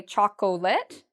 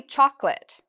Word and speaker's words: chocolate: In English, we sometimes have silent syllables. So for example, I have here the word chocolate. Many students don't know that this part is silent. We don't say it. So many students will say chocolate, but it's actually chocolate. Chocolate. Okay, it's two parts to that word.